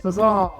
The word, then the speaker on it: Cezal: Sezanne.